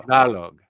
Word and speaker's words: Tagalog: Do I pronounce the G at the end? Yeah. Tagalog. There you go. Tagalog.